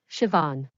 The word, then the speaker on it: Siobhan: Before he left, he looked closely at Siobhan's name tag, and pronounced her name perfectly out loud, Siobhan.